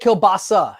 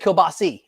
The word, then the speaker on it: kielbasa: what is it kabasa I always said kielbasa and you just said kielbasi is it either way is it either way A's eyes it's all the same yeah sorry and then